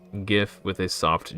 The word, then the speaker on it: GIF: Now you can go forth freely and pronounce GIF with a hard G as you naturally would, because you have every right to do so.